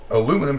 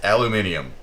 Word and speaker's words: aluminium: Aluminum came around because America is just stupid. Yeah. And they were too dumb to learn how to pronounce it properly, so it eventually became a popularized slang word. Yeah. It's aluminium. Yes.